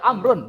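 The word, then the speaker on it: عمرو: du kata Amar Kalau misalnya tidak ada ya amrun bacanya makanya Amr IBN as Amr Bin as itu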